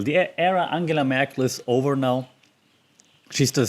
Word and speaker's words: Angela Merkel: the era merkel merkel an angela merkel that's how you pronounce her name by the way not angela angie merkel angela merkel the era angela merkel is over now she's